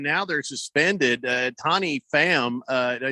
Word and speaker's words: Pham: something go and now they're suspended uh tony pham uh did i say his name right fam it's spelled p-h-a-m yeah fam tommy fan uh tommy